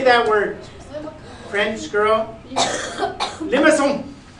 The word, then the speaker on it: limaçon: Limaçon.